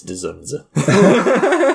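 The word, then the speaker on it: Zsasz: his name uh zunza you you don't pronounce like the D's really zza it's dunza sorry George I'm a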